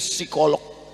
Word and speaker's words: psikolog: Ternyata Ibu ini psikolog. Tulisannya psikolog. Bacanya P-nya hilang. Psikolog.